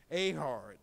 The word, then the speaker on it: Ehud: domination of the moabites his name was ahard and I can't emphasize that enough that is the Hebrew name which uh uh I'm pronouncing in Hebrew ahard amen not in English amen and it says the